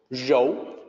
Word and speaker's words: 柔: something like that, but it's more like R-O-H, Rou. It's another one of the tricky sounds for non-native speakers to make, mostly in the beginning part, Rou. Not exactly like row. Similar, but not the same.